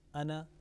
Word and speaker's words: أنا: Ana has been kept short. Alif is silent there.